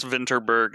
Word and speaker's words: Vinterberg: Moss Michelson fandom and try to pronounce it with a Danish accent and say this is Tomas vinberg oh that's much better than my pronunciation and as a filthy American Thomas vinterberg is correct um another round is